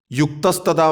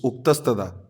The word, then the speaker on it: उक्तस्तदा: और ये भी है युक्तस्तदा भाव्यते व सद्भिः, इट्स उक्तस्तदा।